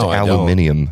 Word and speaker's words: aluminium: It's pronounced aluminium. You uncultured swine.